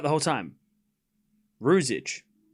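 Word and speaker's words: Ružić: All right, Rosich 3015.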